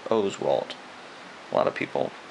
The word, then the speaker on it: Oswalt: and we got a Roy Oswalt and it's pronounced Oswalt a lot of people pronounce it wrong I